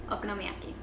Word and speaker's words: Okonomiyaki: Well, now that you mention it, there is this dish called Okonomiyaki. That was really good pronunciation.